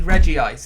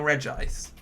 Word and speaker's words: Regice: do it which is where it should be Reggie ice even though it's now regice it should be Reggie ice you've got Reggie Rock